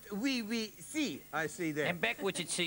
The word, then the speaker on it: Oui Si: And it's pronounced we see, I see there.